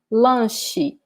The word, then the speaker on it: lanche: Second one, lanche, lanche. And there's also E in the end. The sound of E in the end. Lanche.